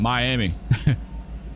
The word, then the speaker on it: Miami: Like here in the Panhandle, we have Miami, but it's pronounced Miami. And don't you dare call it Miami. Don't call it Miami. People get torqued. It's Miami, but it's spelled exactly like Miami. It's just Miami.